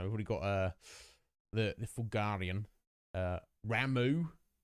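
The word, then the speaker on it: Ramuh: You know, we've already got the Fulgarian, Ramu, or Rama, if you prefer. Apparently that's the correct pronunciation.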